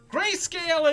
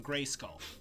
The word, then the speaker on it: Grayscale: Now, we could do a drinking game for every time that I mispronounce Grayscale's name and call him Grayskull. That would be a good drinking game, because I have a bad habit of getting his name wrong, and I apologize for that, Grayscale.